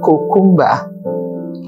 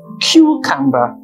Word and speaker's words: cucumber: other examples the words cucumber a lot of people would say cumba and the actual pronunciation is cucumber how about this word